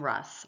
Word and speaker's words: Russ: Initially spelled with a T, some members of the Rust family later dropped the pronunciation of the letter T and the spelling became Russ, R-U-S-S.